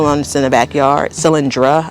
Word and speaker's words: Cylindra: Cylindra I think it's pronounced.